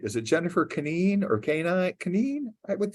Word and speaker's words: Kanine: Is it Jennifer Canine or Canine? Canine, I would think. Canine.